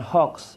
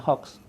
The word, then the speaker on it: hoax: Dengan menyebarkan fitnah, menyebarkan berita bohong, menyebarkan hoax istilah kita atau hoax, sebenarnya cara membacanya hoax.